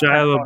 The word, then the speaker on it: Shia: How is IA pronounced low? It's Shia LaBeouf.